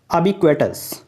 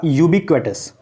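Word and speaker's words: ubiquitous: Synonym में अगर देखा जाए तो यहाँ पर सबसे पहला वर्ड है अबिक्वेटस। ठीक है, या कहीं कहीं पे आपको ये भी प्रोनाउंसिएशन देखने को मिलेगा यूबिक्वेटस।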